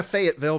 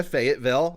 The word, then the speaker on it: Fayetteville: Our story begins May 8th, 1985 in Tina, Fayetteville, North Carolina. That's how I remember how to say it, Kate. Did you see that? Yeah. Tina, Fayetteville, North Carolina.